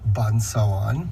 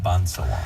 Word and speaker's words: Pânsâwân: It is actually pronounced Pansawan. Pansawan.